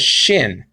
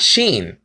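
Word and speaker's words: שין: He said that he pronounced this letter as shin, not sheen. Some people pronounce it shin and not sheen.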